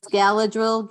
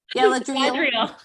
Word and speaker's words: Galadriel: What gift does Galadril give Gimly at the parting feast? What gift does Galadriel give him at the parting feast? I'm laughing at your pronunciation. Sorry. What is it? Galadriel.